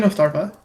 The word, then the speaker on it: Ostrava: you pronounce your name I've been saying ostrava yeah you pronounce it right cool because it's funny